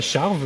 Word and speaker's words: Charvaz: Alors, ça s'appelle la charve, le massif de la charve. Ça s'écrit charvaz.